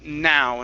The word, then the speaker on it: now: excuses no okay that that word is now instead of no now no excuses now